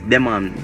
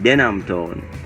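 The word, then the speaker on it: Denham Town: the name but the the wrong pronunciation is demand demand demand the monitor it's even hard for me to pronounce because i am familiar with saying denim tone but um a lot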